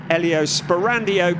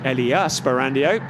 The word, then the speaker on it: Elia Sperandio: place ahead of the Elio Sperandio car, Elia Sperandio, to get the pronunciation right, in the number 35 car.